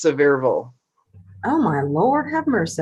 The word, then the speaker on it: Sevierville: It is French, but in Tennessee, it's Sevierville.